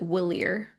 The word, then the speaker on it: Walyre: in my brain, I pronounce it Willier.